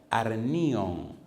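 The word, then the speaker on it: ἀρνίον: Segunda palabra, arnion.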